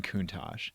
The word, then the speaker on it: Countach: And, okay, I think for a day, I think I'm going to F the Lamborghini Countach and Okay.